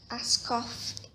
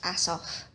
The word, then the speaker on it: Askoff: Dr. Askoff, well, it's actually pronounced Asoff, is coming to see